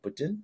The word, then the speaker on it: poutine: impressed I didn't like poutine I didn't understand the hype um and then also there's different pronunciation some people call it Putin which I think is the French pronunciation I don't know the